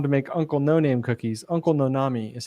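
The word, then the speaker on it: Uncle Noname: he went on to make uncle no-name cookies uncle nonami is how he pronounced it because the company bought his brand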